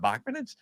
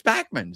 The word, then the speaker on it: Bachman: He looked into the camera and said, "My name's not Bachman, it's Bachman."